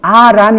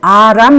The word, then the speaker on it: 아람: 오늘날 시리아의 요 맞아요 그런데 그 2 완 5 의 발음은 아람 이에요 그래서 어떤 때는 대역 번역 은 워메 발음이 그대로 기록된 그런 유리한 점이 또한 있습니다 그야말로 는 스템 그 c 리아 라고 하지만 원래 그 원어로 는 아람 이에요 그런데 이 시리아 왕이